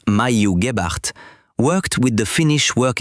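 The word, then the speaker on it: Maiju Gebhard: During the 1940s, Mhu Gibbart, pronounced Mayuart, worked with the Finnish Work Efficiency Institute.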